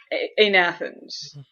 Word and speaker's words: agnathans: So, anathans. The G is silent.